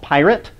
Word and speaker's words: Pyret: talk about a programming language called pirate it's spelled as it appears here p-p-y-r-e-t not pirate like you're stealing things uh and i'm gonna